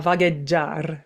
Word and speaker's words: vagheggiar: One, and I'm probably going to butcher the name of the aria because, Italian is not my first language. But it's Tornami a Oh, Vahagiar. yeah, tornami a vagheggiar.